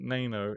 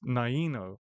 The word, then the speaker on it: Naino: Who I've just realized recently I've been saying your name wrong. It's not Nano, it's Naino.